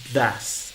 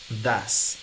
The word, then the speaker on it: does: he She o it va a ser das dases Sí este se escribe does Sí pero se pronuncia das Entonces estos estas dos